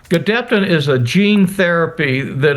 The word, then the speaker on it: Gedeptin: We've successfully completed phase 1 and a phase 1/2 trial, but this will be a phase 2 trial combining Gedeptin, you did pronounce it correctly, in combination with Keytruda, which is known as an immune checkpoint inhibitor.